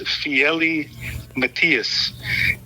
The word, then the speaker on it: Fiely Matias: he said it on the tape that I mispronounced it. Yeah, his name is Fiely Matias, and he is a children's author.